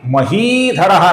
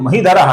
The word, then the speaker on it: महीधरः: बनता है और आगे महीधरः नाम है। ये ही दीर्घ है, इसका कुछ लोग महीधरः ऐसा गलत उच्चारण करते हैं, यह हमें नहीं करना है।